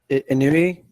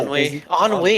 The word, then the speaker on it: ennui: Who? Inui? Oh, Ennui. It's pronounced ennui.